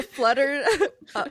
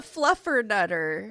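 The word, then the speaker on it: Fluffernutter: It is a flutter. Oh, it's a fluffern nutter. Oh, stupid. Obviously, it's called a fluffern nutter because fluff. I knew I was saying it wrong.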